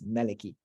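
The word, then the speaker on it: مالك: But when it comes to Surah Nas, everyone is unanimously on the same page with regards to reciting it as Maliki, as king.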